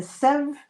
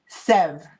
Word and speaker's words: Sèvres: So Anne says don't pronounce the S at the end. Sèvres.